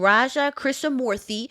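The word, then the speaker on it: Raja Krishnamoorthi: name Mike Gallagher a republican from Wisconsin and Raja chrisa Mory a Democrat from Illinois and yes that is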